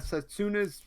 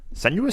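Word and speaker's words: Senua: Okay, so you've also been playing a Setsuna's. Is that how you say it? Senuous.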